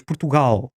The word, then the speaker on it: Portugal: é a sílaba tónica, nós dizemos Portugal. O gal é que é o ponto, nós pomos a tónica e damos uma força àquela sílaba que os outros povos não dão.